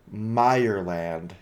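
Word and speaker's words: Mireland: Meerland. It's Meer and Land. Alpha, just split the two words up.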